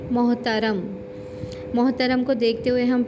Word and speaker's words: محترم: پاس لفظ ہے محترم۔ بہت سے لوگ بولتے ہیں محترم، یعنی تے کو بھی ساکن کر دیتے ہیں، تو درست تلفظ کیا ہے؟ محترم۔ محترم کو دیکھتے ہوئے